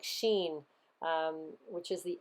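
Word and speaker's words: שין: the serpent biting you the name is pronounced like sheen um which is the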